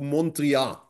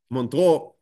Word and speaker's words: Montreux: and brings him to Montreal, which I am surely again not pronouncing right. It's written in AUX in the end. Montreal, thank you. Montreux.